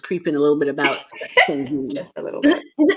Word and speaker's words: Sagine: But yes, it's pronounced Sagin. Sagine. I Yes.